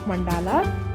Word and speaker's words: mandala: Starting off with our first and the important supply of mandalas is the base. If you are planning to draw or paint the mandala or mandal, if you pronounce it in Sanskrit, you need something to draw or paint the mandalas.